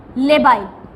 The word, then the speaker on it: labile: Okay, अब इसके अंदर आपके ऑथर ने लिखा है जो आपके जो लेबाइल, स्पेलिंग क्या है? LABILE, लेबाइल।